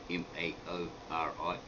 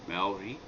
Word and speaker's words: Maori: similar to mao sito now in the pronunciation maori maori right you might visit and hear a lot of maori saying maori maori but that's a completely different spelling it's m-a-u-r-i and it means something quite different i've just like twisted